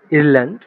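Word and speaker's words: Irland: আউস ইরল্যান্ড। আয়ারল্যান্ড। আইয়ের উচ্চারণ ইরল্যান্ড। আমরা কি করি? ই। ই। আর ই এর উচ্চারণ করি কি? এ, তাই না?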